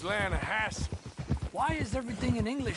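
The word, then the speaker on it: Lannahechee: drought we made an Atlanta hasse River no no no no no no the Atlanta Edge it runs right near here yeah but it's pronounced Lana Hass why is everything in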